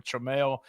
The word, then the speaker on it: Tramel: So that's one of those, I always tell people it's either Tramel or Tramel. Apparently people can spell it correctly when I say Tramel.